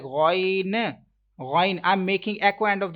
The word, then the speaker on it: غ: Ghain, I'm making echo end of this letter, so it is that's wrong. Avoid to make echo end of this letter. You will have to pronounce it ghain.